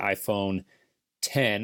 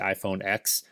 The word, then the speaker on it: iPhone X: got a new iPhone the iPhone 10 I'm told it's pronounced not the iPhone X if anybody out there